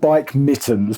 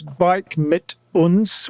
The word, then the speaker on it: Bike Mit Uns: I will say it's called bike mittens, but it's not because I don't speak German. So you do and you should be able to pronounce it. Yeah. So it's bike mit uns which basically means bike with us.